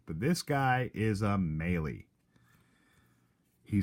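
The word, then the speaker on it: Mahle: and here's the deal folks the courage correct pronunciation for this gentleman's name is maily maily there are many Malee's around summer spelled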